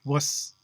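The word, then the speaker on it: -vus: well-known indo-european suffix wass which they spell v-u-s pronounced wuss there's no va in latin then riawas which is probably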